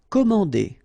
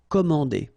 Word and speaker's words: commander: Commander. Okay, remember A and N together, so it's nasal, en. Commander.